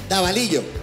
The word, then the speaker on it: Davalillo: Davalillo.